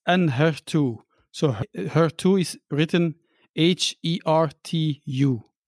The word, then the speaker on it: Enhertu: It's Enhertu.